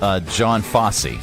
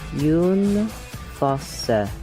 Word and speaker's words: Jon Fosse: Now, I would pronounce this John Fosse, but that's not correct, is it? Jon Fosse.